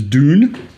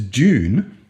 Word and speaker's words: Dune: it American which is Dune d o o n or you can pronounce it Australian which is June j o o n these are at first